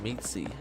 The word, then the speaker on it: Meesey: I played Legend ZA with a Crobat and named it after my girlfriend's cat, Meesey, pronounced Meetsy.